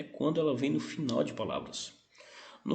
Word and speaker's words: final: Em espanhol, esse L nunca terá som de U, sim? Terá som de L. Como é que eu pronuncio? Eu coloco a língua no céu da boca.